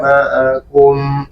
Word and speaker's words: معكم: Qalu inna ma'akum innama nahnu mustahzi'un. Sekali lagi, ma'akum, ainnya.